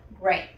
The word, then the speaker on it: gray: Pues solamente tenemos que cambiar las vocales. La A por la E y queda gray. Gray.